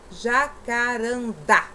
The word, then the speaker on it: jacarandá: voltar aqui um pouquinho, olha, jacarandá, olha, só da gente falar a palavra já força a sílaba, dá, automó, olha, automó, automaticamente a gente já faz essa sílaba mais forte até na nossa pronúncia.